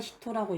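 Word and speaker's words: 人: 사람인자는 히토라고 있습니다.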